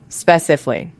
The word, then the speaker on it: specifically: The common mistake is adding an extra syllable. Learners often say speh-sif-ick-lee, 5 syllables. But actually, it is 4 syllables. Speh-sif-ick-lee. The ally ending becomes just lee.